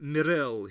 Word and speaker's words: Miril: "And I am Miril," he said, accenting the second syllable.